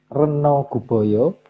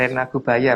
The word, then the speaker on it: Rena Gubaya: Slide ke-63, sementara itu Sang Hyang Reno Guboyo ditunjuk untuk mengendalikan hama berupa tikus. Rena Gubaya Mas bacanya.